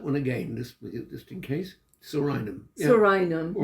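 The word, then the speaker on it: Psorinum: Homeopathic remedy which may help would be Sorinium 30C. Interrupt you with the pronunciation. We might have to go over that again. I'd pronounce it Sorinum.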